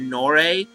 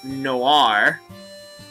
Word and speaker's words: Noir: I think I said Nore. It's Iris Noir. And this one is Iris Blanche. I believe is how you say it. Blanche. Blanche. They're French, which is what, and each one respectively means black and white.